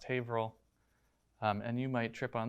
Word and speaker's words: Haverhill: it's pronounced worcester and i know that it's pronounced haverhill and you might trip on those so we're